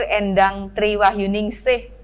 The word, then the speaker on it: Endang Tri Wahyuningsih: alhamdulillah kita bertemu dengan Kepala Badan Pusat Statistik BPS Sumatera Selatan, Ibu Insinyur Endang Triwahyuningsih MM. Gitu ya bacanya ya.